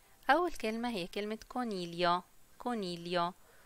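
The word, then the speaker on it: coniglio: كونيليو، وبنلاحظ أن حرف الجي لو جه بعدي حرف الال مش بيتنطق، فبتبقى كونيليو مش كونيجليو.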